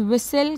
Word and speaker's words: whistle: Sixth one is write any three words in which the letter T is silent. So the answer is whistle, castle and listen.